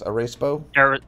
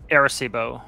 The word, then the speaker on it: Arecibo: Arecibo? Arecibo. Arecibo. Okay. Yeah, I butchered it too.